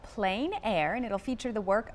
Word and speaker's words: plein air: You know, it's spelled P-L-E-I-N, but pronounced Plein Air. Tell us what this title means and how it relates to the festival. Sure. Well, the term Plein Air is a French term,